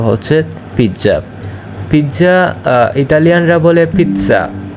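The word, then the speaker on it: pizza: পিজ্জা পিজ্জা ইতালিয়ানরা বলে পিচ্ছা ইতালিয়ানরা বলে পিচ্ছা আর বাংলাদেশিরা বলে পিজ্জা পিজ্জা কিভাবে উচ্চারণ করে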